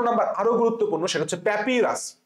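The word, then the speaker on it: papyrus: 255 number আরো গুরুত্বপূর্ণ, সেটা হচ্ছে প্যাপিরাস। প্যাপিরাস বানানটা খুব ইজি, প্যাপি, প্যাপি মানে প্যা, তারপরে পাই, প্যাপাইরাস, অনেকে প্যাপাইরাস বলে, একই জিনিস, কারেক্ট অ্যান্সার বি।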